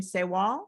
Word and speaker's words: Sawall: Can I pronounce your name Sawall? Is that how you say it? That is correct, yes.